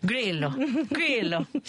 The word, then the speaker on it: Grillo: How do you say it with an Italian accent? Grillo.